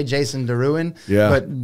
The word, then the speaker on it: Derouen: just going with it so i say jason deruan yeah but derwent is actually the uh french pronunciation there you go jason d i like